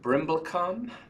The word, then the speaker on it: Brimblecom: morning I am on this morning with brimblecom how do you say your last name is